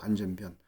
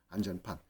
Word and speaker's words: 안전판: 것은 플레이트를 얘기하는게 아니고이 밸브를 한자로 쓸 때 예 꼭 변자 럼 썼기 때문에 사람들이 이걸 다 변으로 읽죠 안전변 근데 그 제대로 된 발음은 판입니다 안전판 심장 판막이라는 거 있죠